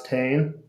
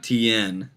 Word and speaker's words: Tane: Zane Gardner said, "How do you pronounce Tane?" And I think it's just Tan. Oh yeah. Not TN. Yeah, Yes, Steve.